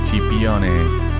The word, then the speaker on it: Scipione: as I do Marco chion I don't know if I'm pronouncing your surname the right way yeah sh CH on it amazing so thank you